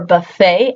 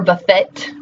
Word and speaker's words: buffet: We use the words depot or buffet as great examples of that. Both of those words end in a T. Do you ever pronounce the T? Do you say depot or buffet?